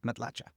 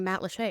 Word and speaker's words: Matlacha: at it on the map, it looks like Matlacha.